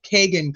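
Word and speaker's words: Kegan: Okay, so Anna says it's pronounced keg, like Kagan Klein, like a keg of beer.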